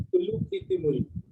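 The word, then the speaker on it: तुज़ुक-ए-तैमूरी: हूँ my dear students, जो TUZUK है उसको ल करके भी प्रोनाउंस करते हैं, तुलुकी तिमूरी, लेकिन वो बेसिकली साउथ में होता है जब Z और H साथ में आता है, ठीक है, ल हो जाता है, तुलुकी तिमूरी, ठीक है।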